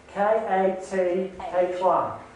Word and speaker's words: Kathy: Kathy. Is that pronounced right? No, it's New Zealand pronunciation. K-A-T-H-Y. K-A-T-H-Y. So it's like Kathy, but Kathy. Yes, in a New Zealand accent.